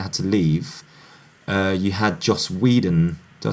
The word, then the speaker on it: Joss Whedon: because Zack Snyder had to leave, you had Joss Whedon. Did I say his name right? Joss Whedon, yeah.